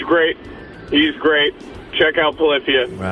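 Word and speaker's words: Polyphia: here because I am a huge fan of Polifia, which is the correct way to pronounce that name.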